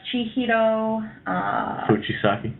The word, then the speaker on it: Chihiro Fujisaki: So after a night's sleep, after exploring the second floor, and how do you pronounce the transgender as it's revealed? Oh, that's Chihiro Fujisaki.